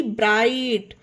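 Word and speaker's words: bright: एल आई जीएसटी लाइट बी आर आई जीएसटी ब्राइट टी आई जीएसटी टाइट ये थे इसके कुछ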